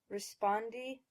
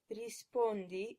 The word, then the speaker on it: rispondi: When you look at these words, keep in mind the 7 Italian vowels. That will help you get the correct pronunciations, which are rispondi instead of rispondi, avanza instead of avanza, soccorso instead of soccorso, and speranza instead of speranza.